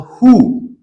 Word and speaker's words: WHO: Who? We pronounce it who, or we can say WHO. When abbreviation is pronounced like one word, is called acronym.